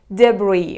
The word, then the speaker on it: debris: little bit tricky here letter s is not pronounced at all so it is debris when something is destroyed